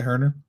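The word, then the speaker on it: Kevin Huerter: Yeah, Herter.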